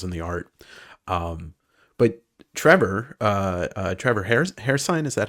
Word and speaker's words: Hairsine: But Trevor Hairsine, is that how you say it?